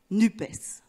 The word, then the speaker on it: NUPES: français, donc très basiquement, on le prononce comme ça s'écrit, NUP, et on ajoute, si on le souhaite, le S pour entériner la pluralité, ça fait NUPES.